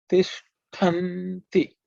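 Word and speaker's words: तिष्ठन्ति: Tishtanti. Okay. Tishtantan. Tishtanti. The word. Okay. Watch out the cerebral sha and the aspirated ta. You have to pay attention to that, and so the word gets formed.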